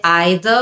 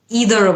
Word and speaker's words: either: সো দুটোই উচ্চারণ কিন্তু সঠিক। আমরা চাইলে either বলতে পারি অথবা eitherও বলতে পারি। either হচ্ছে ব্রিটিশ, either হচ্ছে আমেরিকান।